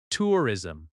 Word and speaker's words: tourism: Tourism. Tourism has stress on the first syllable.